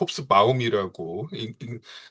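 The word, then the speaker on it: Hobsbawm: 근데 그 영국의 이제 그 막수주의 역사가로 명성이 높았던 에릭 홉스범, 본토 발음으로는 에릭 홉스바움이라고 읽어야 된다고 하는데, 예.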